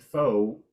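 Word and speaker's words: faux: actually mean this like somebody said Fox pearls and they meant foe French F au ux but they pronounced it like the furry animal that runs around in a field so preparation is ongoing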